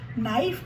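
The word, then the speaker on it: knife: कर लेते हैं जैसे के एन आई एफ की लाइफ इसमें के साइलेंट है नाइफ का प्लूरल हो जाता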